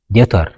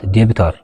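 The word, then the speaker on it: debtor: بقدمي T ندحن موصيون B silent خون ويدما عين بابن عيد مسن مالتيو ኤግዛምፕል ዴት ዴቢት ዘይኾነስ ዴት ኢና ንብሎ ዴቶር ዴቶር ኖት ዴቢቶር ዴቢተር ኣይኮንና ንብል ዶውት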